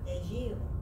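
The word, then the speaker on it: ejiao: How is this pronounced? Ejio.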